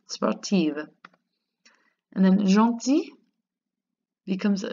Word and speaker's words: sportive: Becomes sportive, and that's just pronouncing the V, sportive.